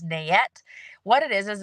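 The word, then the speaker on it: NAET: that will do it's called Nae I pronounce it as nette what it is is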